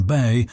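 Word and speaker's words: 八: The Chinese consider it the luckiest number, as its pronunciation Bei sounds similar to Fa, wealth or prosperity.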